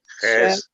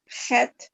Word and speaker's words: Chet: Chet, Chet. Yeah, there we Called go. it Ches. You called it Ches before. We could call it Okay. either Ches or Chet.